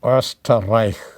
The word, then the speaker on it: Österreich: Second letter with umlaut is O. O. For example, the German word for Austria is Österreich.